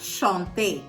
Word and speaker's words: chanter: அந்த எப்படி நம்ம ப்ரொனவுன்ஸ் பண்ணுவோம்? ஏ அப்படின்னு சொல்லிட்டு ப்ரொனவுன்ஸ் பண்ணுவோம். இது நம்ம பார்த்த ரெகுலர் வேர்ப் மாதிரி தான்.